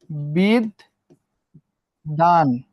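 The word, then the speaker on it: বিদ্বান: বিদ্যানটা কি হবে? বিদ দান।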